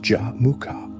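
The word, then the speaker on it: Jamukha: Equally critical was the immediate renewal of his childhood bond with Jamuka, pronounced Jamuka.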